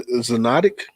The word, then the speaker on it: zoonotic: guys, because I heard that COVID-19 is a zoonotic.